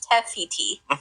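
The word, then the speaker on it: Te Fiti: It's Teiti.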